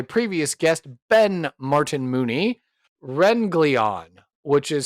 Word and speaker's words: Wrenglion: Renleon, which is spelled Wrl I O N, and it's pronounced Renleon.